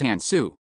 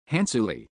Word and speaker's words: Hansuli: Comma Hansley, not Hans, it's Hansu. Despite improving her inunciation quite a bit over the years, she struggled to wrap her tongue around it. Perhaps because the syllables were entirely unfamiliar to her. Hansuli. Oh, that's better.